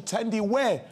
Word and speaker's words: Thandiwe: yes yeah is it Thandie Newton yeah that is correct it was of course iconic actress the correct pronunciation of her name chizzy is actually tendi wear Newton no point okay next